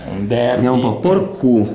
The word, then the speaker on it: Porcu: Derby vediamo un po' porcu porcu Infatti Porcu di nuovo con l'accento sulla in realtà è Porcu ripetiamolo potrebbe essere l'uomo